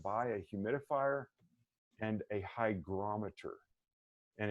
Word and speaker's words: hygrometer: a humidifier and a hygrometer and it's spelled h-y-g as in golf hygrometer not hydrometer hygrometer you can get them